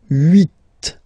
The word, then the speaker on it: huit: Then here, final T is pronounced, so huit, huit. Remember in French this H letter here, okay, doesn't exist phonetically, so we don't really pronounce it, okay, so if you listen carefully, you will only listen or hear these vowels at the beginning of the word.